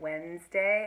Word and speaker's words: Wednesday: we mostly say it Wednesday and we drop one of the syllables out which makes it harder